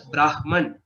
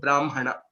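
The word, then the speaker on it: ब्राह्मण: So even though some people do pronounce it as Brahman, I wouldn't say it is completely wrong, but the tradition that we are following, we are using this pronunciation of Brahmana.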